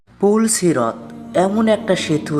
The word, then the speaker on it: পুলসিরাত: ভুল উচ্চারণ ফুল সিরত। সঠিক উচ্চারণ হবে পুলসিরত।